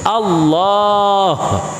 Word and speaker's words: আল্লাহ: কইরা লা ইলাহা ইল্লাল্লাহ আল্লাহ শব্দের মধ্যে টান আছে এবং শেষে একটা হা আছে আল্লাহ হা টা উচ্চারণ করতে হবে আর নয়তো 100 বছর